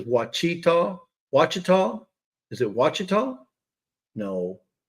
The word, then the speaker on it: Ouachita: So it's spelled Ouachita, but then back to it says Wachita.